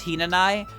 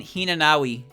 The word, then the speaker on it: Hinanawi: the way i do the w in tenshi's name is basically silent it's not like a